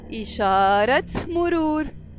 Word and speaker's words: إشارة مرور: And this T مربوطة, when it's followed by a noun, we pronounce it. So we will say إشارة مرور.